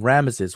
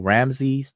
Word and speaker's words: Ramesses: When you say King Ramesses or the Pharaoh Ramses II, Ramses I, Ramses III, or Ramesses or Ramses, however you pronounce it, this is what you're looking at. Ra-Mesu. And it means it is Ra who gave birth to him.